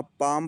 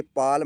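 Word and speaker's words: palm: एल आया है तो यहां एल को साइलेंट होना पड़ेगा यहां पाम पढ़ेंगे पाल में नहीं पढ़ेंगे पाम मींस हथेली दूसरी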